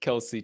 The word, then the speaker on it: Kelce: I specifically pronounced it Kelsey tonight.